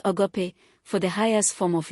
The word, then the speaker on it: agape: The Bible uses the Greek word agape, pronounced agape, for the highest form of love.